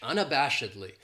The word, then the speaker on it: unabashedly: then we have unabashedly this adverb has five syllables and the stress is on that third syllable that Bosch unabashedly that second syllable has that schwa that sound unabashedly and what it means